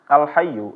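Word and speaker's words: الْحَيُّ: biasa alh alh Hai kalau misalnya enggak tasydid tapi karena tasydid ketika ynya ini tekan sedikit suaranya agak naik alh alh Hay kita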